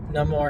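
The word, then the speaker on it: Namor: you know leading up I always pronounce the name more and then when you hear them pronounce it of course the actor's Mexican it's going to pronounce it no more and the way they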